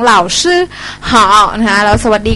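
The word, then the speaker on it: 老师: เสียง 1 นะ คะ SH ออก เสียง ซ โซ่ มน ลิ้น สระ อือ ซื่อ นะ คะ เหล่า ซื่อ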